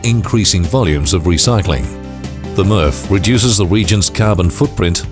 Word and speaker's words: MRF: current material recovery facility mrf pronounced murph in forest road tamworth